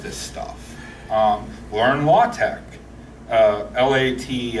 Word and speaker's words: LaTeX: a lot of this stuff you are in law tech la de x looks like law techs are latex but it's pronounced law tech it's a publishing it's a